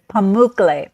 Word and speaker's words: Pamukkale: Yeah, and the I'm not going to pronounce it right. The how do you say the Pamukkale. pools? Pamukkale.